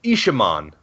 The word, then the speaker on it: Isamon: All right, so we got confirmation on how to pronounce what we were referring to as Isamon's name. It's Isamon. Very close from you. That's a good guess. Gosh, you're good. You're smart. It wasn't even close. Isamon and Isamon? Those are completely different. That's like 1 syllable. You get 2 of the syllables right out of 3. 2 out of 3 ain't bad.